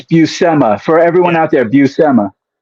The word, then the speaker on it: Bui: Senor of course s Bui um sorry I'm mispronouncing the names gonna just I'll tell you real quick it's buma for everyone out there buma bua yeah uh